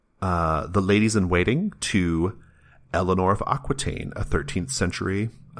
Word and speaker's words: Alienór: I believe it's pronounced Eleanor. It's spelled like the word alien with OR at the end.